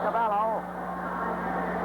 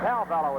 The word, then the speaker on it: Calvello: And Cavallo. And Calvello is pronounced.